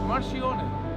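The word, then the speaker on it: Marchionne: How do you pronounce it? Marcione.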